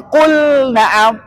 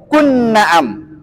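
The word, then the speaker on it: قل نعم: hurufnya ya Ah maka di sini bacanya Qul Naam enggak boleh qun Naam Qul Naam karena wa Abin baca dengan jelas artinya jangan idgamkan nah kemudian huruf ha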